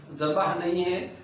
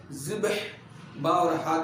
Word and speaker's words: ذبح: ذبح بھی آیا ہے، اس کا صحیح تلفظ با اور ہا پر جزم کے ساتھ ہے، ذبح نہیں ہے، ذبح با اور ہا کے جزم کے ساتھ میں ہے۔ سوال جواب۔ پہلا سوال